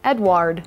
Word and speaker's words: Edouard: Edward. Yes, it's pronounced that way because it's spelled the French way.